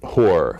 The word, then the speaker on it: Hor: Whore. Whore. It's spelled H-O-R.